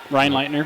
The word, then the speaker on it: Reinleitner: On mat 3, which is on your left, furthest away, that's Clayton Reinleitner of Did I pronounce that right? Yep, Reinleitner. Reinleitner, very good.